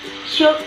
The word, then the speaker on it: should: Should as a modal. Should as a modal. Should. Jadi cara bacanya itu should ya. Should. Jadi L-nya itu tidak dibaca. Yang artinya akan, sebaiknya, boleh ya.